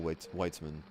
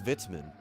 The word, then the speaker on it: Weitzman: pretty sure Weitzman is I know I'm saying it wrong it's vitzman I always thought it was Weitzman or Weitzman it's vitzman is it Mikhail witzman